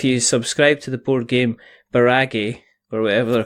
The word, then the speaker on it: Barrage: it that way or you can pronounce it barrage or barrage which is the correct way to pronounce it and drop them as